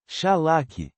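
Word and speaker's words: שלח: Shalash pronúncia Shalak.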